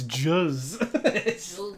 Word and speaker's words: juzz: She tasted some of the liquid covering her and screamed, "Grossness, it's juzz." It's spelled with a J-U-Z-Z. Grossness, juzz. It's Jesus, it's juzz. It's like Ed Grimley. I must say, it's juzz.